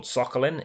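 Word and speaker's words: Tzolk'in: at zombicide next up zulkin or soccerlin if your name is Ryan Sturm is how you pronounce it involving these cogs that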